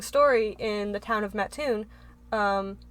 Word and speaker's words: Mattoon: went to is in a little town called Mattoon Illinois and not that little I mean it's